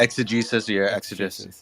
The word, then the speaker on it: exegesis: these individuals represented different schools of I don't pronounce this word exegesis and it became difficult yeah exegesis yeah you're right it became difficult for them